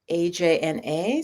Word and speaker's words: Ajna: So let me know if you're interested in this chakra, AJNA, sometimes pronounced Ajna.